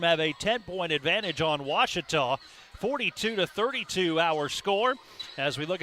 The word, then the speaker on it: Ouachita: cheetah back in texas everybody pronounces it wichita but really it's ouachita washington washington how would you pronounce it it's washita baptist university get it right it's